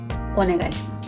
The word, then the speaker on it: お願いします: Yoroshiku onegaishimasu. Yoroshiku onegaishimasu. It's more natural to not pronounce the last U part.